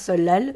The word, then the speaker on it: 설날: le seul la halle qui s'écrit donc ça nan mais se prononce solal vous le saviez peut-être